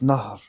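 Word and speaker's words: نهر: the river in Arabic it's Nar Nar yeah so it sounds like the swim in French n bro will you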